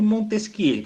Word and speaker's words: Montesquieu: Francês é enjoado, né? Secondar, Barão de Montesquieu. Fazer biquinho para falar. E em francês, a última sílaba é sempre a mais forte.